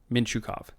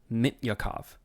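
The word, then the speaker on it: Mintyukov: it is not pronounced mint Yakov why the hell would it be pronounced Mint or sorry mint like the silent T it's a Russian name that sound doesn't exist in that language hey if there's any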